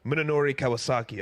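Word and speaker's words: Munenori Kawasaki: I just feel like Minonori Kawasaki, I said it right, Chris.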